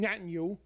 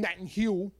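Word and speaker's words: Netanyahu: I really did because I mispronounced Benjamin Netanyu and I call him Nat and Hugh.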